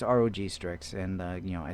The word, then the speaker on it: ROG Strix: about the uh the rock sticks uh screen replacement and um you know I I say it like that on purpose because I'm not a gamer and uh whatever yeah it's Rog strix and uh you know